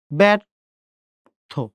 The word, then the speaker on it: ব্যর্থ: ব্যর থ, থয়কারে থ, ব্যর থ।